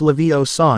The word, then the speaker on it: Leviosa: Besides, you're saying it wrong. It's<unk> Levio saw nod. Leviosa. You do it them if you're so clever.